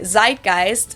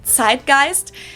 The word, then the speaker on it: Zeitgeist: some other languages too Americans usually say Zeitgeist in German we pronounce it sist and this consists TI